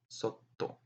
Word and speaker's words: sotto: we have a very similar word it's not pronounced the same but it's similar it's a word Soto with doubled consonant which means underneath below yeah